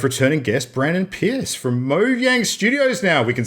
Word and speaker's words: Mojang: It's Mojang. We actually released a video like a month ago when we did the rebranding. We actually had like a video which pronounced Mojang. It is officially Mojang.